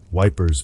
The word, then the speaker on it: Ypres: The most famous one is called the Wipers Times, Wipers being the soldiers' pronunciation of the Belgian city of Ypres.